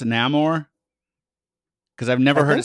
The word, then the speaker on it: Namor: is it namore neyar well this version is namore and they give a reason why he's pronounced that way because it's since it's m